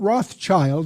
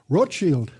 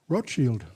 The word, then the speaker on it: Rothschild: Not Rothschild. That's mispronounced by most Americans. Rochield. That's the German word for Red Shield. Rochield.